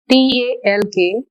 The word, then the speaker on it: talk: in english for example talk psychology thumb here the red mark letters t a l k we won't pronounce l it is only talk here in this next